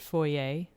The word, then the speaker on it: foyer: okay um i think in europe they're more apt to pronounce it foyer yes with the french pronunciation and i think that's probably why here new brunswick being a bilingual province we tend to pronounce it in the french way as well as a rather than er i would just feel